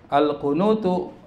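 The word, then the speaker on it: الْقُنُوتُ: Al-qunutu itu harus dibaca domah ya. Kalau Anda belajar ilmu nahu namanya mubtada. Harus selalu bacanya domah.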